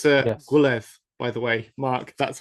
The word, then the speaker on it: Gwynedd: It's Gwynedd, by the way, Mark. That's how you pronounce the Welsh.